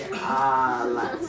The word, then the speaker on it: Alexis: That's actually how you pronounce my name. It's actually Alexis.